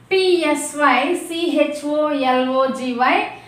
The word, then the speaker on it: psychology: Letter T is silent here. Okay na? And here PSYCHOLOGY, psychology.